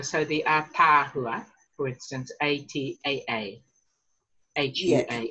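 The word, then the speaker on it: ataahua: It's like a macron, but possibly just a little bit longer. So the Atahua, for instance, A-T-A-A. H-U-A.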